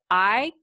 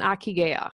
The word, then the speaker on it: ikigai: First, this is spelled I-K-I-G-A-I, Ikigai, and I might be butchering that.